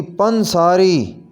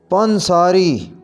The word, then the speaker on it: پنساری: بیخ کنی، بیخ کنی، پنساری، صحیح ادائیگی ہوگی پنساری، پنساری، پنساری۔ بیساکھی، اس کا صحیح